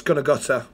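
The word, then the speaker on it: Gunnaguther: It's pronounced Douglas Gunagutter.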